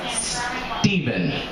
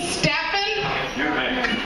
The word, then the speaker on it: Stephen: waiting for pizza name Stephen you looked at the ticket and looked me in the eyes and then said did you mean Stefan no I didn't I didn't mispronounce my own name well I guess they